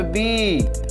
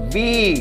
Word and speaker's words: bee: হ্যাঁ, কিন্তু যখন ডবল ই থাকে তখন দীর্ঘ ইকার হয়। তাহলে এখানে উচ্চারণ হবে বি। তাহলে এই দুটোর উচ্চারণটা কি হলো? ই। জোরে করে উচ্চারণ হবে ই। বি, বি মানে মাছি।